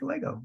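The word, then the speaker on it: λέγω: and Lego is like Lego you know like the Lego box yeah Lego that's that's an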